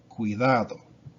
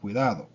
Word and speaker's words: cuidado: You want to pronounce this, the U, put a C on it, such as in the word cuidado, right? Be careful, cuidado.